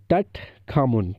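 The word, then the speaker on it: Tutankhamun: इसका नाम जो पूरा नाम था वो था टट खामुन। ठीक है, क्या है, टट खामुन। थोड़े से नेम प्रोनाउंसिएशन में आपको दिक्कत हो सकती है, लेकिन आप बार बार देखिए, टुट खामुन इसका पूरा नाम है।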